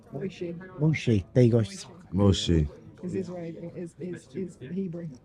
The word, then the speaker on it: Moshe: Do you know it's pronounced differently in all three of them? No, you got Moses, you got Musa, and you got, is it what? I think it's Moshe. That's Moshe. yeah.